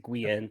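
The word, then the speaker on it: Guyenne: I don't know yeah g-g-u-y-e-n-n-eats they pronounce it guien but it's it's weird okay um yeah because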